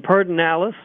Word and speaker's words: Pedernales: We also have pilot programs going in Pedernales, and that is the proper pronunciation, although it's not spelled as you might think that way, and Bluebonnet, two areas to the southeast and southwest of Austin.